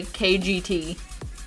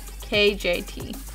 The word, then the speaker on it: KJT: I'm gonna mispronounce that a lot, I feel like, and say KGT. But it's, there's no G in there, it's a J. KJT.